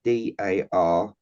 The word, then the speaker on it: Darragh: I think it's got a long name, but the pronunciation is like Darrar. I think it's like Darragh. Well, you'll see it on our page anyway. Darragh, isn't it? Darragh.